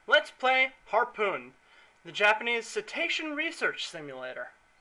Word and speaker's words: cetacean: Let's play Harpoon, the Japanese cetacean research simulator. It's cetacean, not cetacean. Well, I mean, heaven forbid they actually pronounce it the way it's spelled, but, you know, it's not Japan's fault.